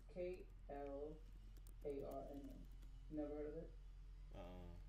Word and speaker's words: Klarna: How you say cardinal card?